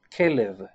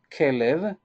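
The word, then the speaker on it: כלב: Hebrew enable the name of a dog is Caleb this is the way that we pronounce it Caleb that it means K live s allowed this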